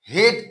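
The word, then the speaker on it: hate: हेट पढ़ेंगे। एच से ह, एट के लिए एकार, टी से ट, ई का उच्चारण नहीं होगा।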